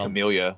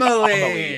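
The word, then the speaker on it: Amélie: It's like Amelia, where I'm not watching it just because that bitch is smiling at me knowingly. Amelie.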